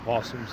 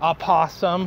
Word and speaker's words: opossum: And we'll kind of talk about fucking possums, Daniel. They have a weird spelling, like opossum or with an O. Yeah, sure. Some idiots always say, "What opossum?" Possum. O is silent.